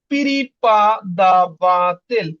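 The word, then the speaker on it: преподаватель: আমরা সবাই জানি আজকে নতুন একটা ওয়ার্ড শিখব পিরিপাদাবাতেল পিরিপাদাবাতেল সবাই একটু বলেন পিরিপাদাবাতেল উচ্চারণটা এমন হবে দেখেন পিরি পি আর ই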